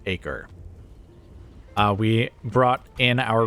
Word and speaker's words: Acre: am going to still pronounce it acrae instead of acre uh we brought in